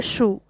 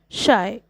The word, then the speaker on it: Scheu: all a comply sixth the poet says that his name is pronounced as the word shy answer when it comes to pronouncing my name I am shy question number B answer